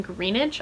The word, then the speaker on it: Greenidge: Then on March 30th, I have an advanced copy of Liberty by Caitlin Greenidge, I believe is how you say her last name, which is out from